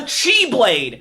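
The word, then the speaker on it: χ-blade: this is the x-blade x in this case is pronounced as the chiefly for the 100 bits derek good night the chi blade which requires which to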